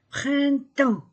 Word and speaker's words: printemps: maçon le printemps printemps je ne prononce pas les lettres p et s printemps le printemps l'été l'automne